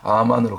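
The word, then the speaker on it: אָמֵן: 아멘으로 끝내는 것이 아니라 아만으로 그대로 우리가 아멘 했으면 원래 아멘의 발음 히브리어 발음이 아만 아만으로 살아내는 단계까지 순종의 단계까지 나갈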